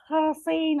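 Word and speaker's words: χαράσσειν: The word, it is originally a Greek word and it is pronounced as harasein or harasein, something like that, which originally meant to engrave.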